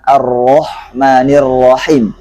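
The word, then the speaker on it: الرحمن الرحيم: nirohim Ingatkan lagi bahwa disini hak keduanya adalah masih hak kecil maka jangan terpengaruh hanya dengan ha besar ataupun Ho Terkadang ada sudah benar hanya pertama arrohmani dan tapi di akhirnya dia terkadang mengganti hop ataupun Hai itu juga kesalahan yang kita harus hindari jadi bacaan yang benernya adalah arrohmanirrohim kemudian Hai berikutnya bacaan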